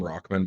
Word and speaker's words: Rahman: uh haseem rahman jr they call him rockman but it's not how it's spelled and i refuse to say that i'm going to call